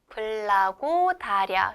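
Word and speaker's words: благодаря: 감사합니다는 불과려어로 불라고 다랴 블라고랴 블라고랴라고 합니다.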